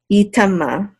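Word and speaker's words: יטמא: Okay, and this aleph is silent. Yitama.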